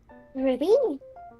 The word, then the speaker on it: RWBY: Have you ever seen the anime Ruby or like the like show Ruby? Ruby? It's spelled RWBY.